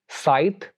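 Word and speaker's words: scythe: एक और रूल सी का ये है कि सी इज not pronounced in combination S see before ई, आई और वाई, यानी अगर सी एस सी इस कॉम्बिनेशन में आए और आई भी किससे पहले ई, आई और वाई से पहले आए तो वहां पर सी को हम प्रोनाउंस नहीं करते बल्कि वहां पर बस एस प्रोनाउंस होगा, सी विल बी साइलेंट।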